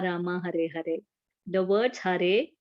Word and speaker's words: Hare: The words Hare, pronounced Hare, Krishna, pronounced Krishna, and Rama rhymes with drama, are Sanskrit words.